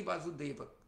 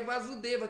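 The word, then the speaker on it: Vāsudeva: significa o filho de vasudeva Se você pronuncia com o primeiro a longo né se for com a breve vasa é só o pai de Cristo agora quando fala vaso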